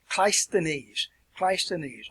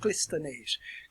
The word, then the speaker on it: Cleisthenes: It actually has two pronunciations that are acceptable. Cleisthenes, or you can pronounce it Clisthenes.